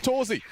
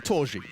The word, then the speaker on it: Torzi: Just one loose end, and his name's Torzi. Or Torji, if you wanted to say it properly.